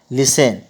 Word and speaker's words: listen: बहुत सारे लोग इसको लिस्टन पढ़ते हैं, लिस्टन नहीं होता है, लिसन, LISTEN लिखते हैं टी, लेकिन टी का उच्चारण नहीं होता है, इसलिए लिसन टू मी।